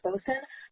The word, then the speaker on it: bosun: So, bosun, like you said, is pronounced bosun.